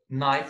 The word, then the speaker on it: knife: Knife, we have here the silent K letter here.